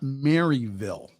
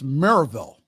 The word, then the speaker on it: Maryville: still planned for Saturday at now it's not Maryville okay that's not how the locals pronounce it it's Merrillville Maryville if you pronounce it quickly Maribel at